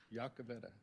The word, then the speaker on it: Yakaveda: congratulations all right how do we pronounce his last name yakavetta yakaveda yes sir that's not what's on